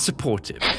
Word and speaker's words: Support Hive: You pronounce the last one as supportive.